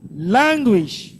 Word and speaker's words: languish: Languish. First syllable.